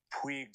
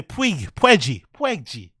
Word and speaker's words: Puig: Puig District. Oh, Puig. Okay, I heard you. It's Puig District. And then Yasil Puig. Yasil Puig. Ah, okay. Sorry. I say Puegi.